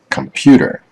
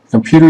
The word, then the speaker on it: computer: let's take two examples the word computer computer is a word that consists of three syllables unstressed stressed and an unstressed syllable computer now let's look at